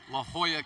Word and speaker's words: La Jolla: my source for information it is la jolla california not whatever i said when njit uc san